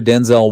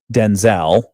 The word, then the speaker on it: Denzel: names are actually pronounced Denzel. Denzel. Denzel. Oh, heavy emphasis on the den. Very low on the Z.